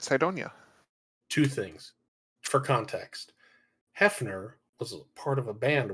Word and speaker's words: Hefner: an invitation to the Hoffner or from Hoffner I'm sorry Hefner Hefner Hefner yeah the English is pronounced Hefner but yeah how Jo